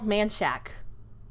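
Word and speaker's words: Manchaca: manchaka it's it's it's it's spelled like manchaka however it's called manshack they call it nanshak and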